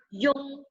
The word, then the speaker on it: yun: Ini bacanya yun. Tulisannya menjadi y u n seperti ini ya.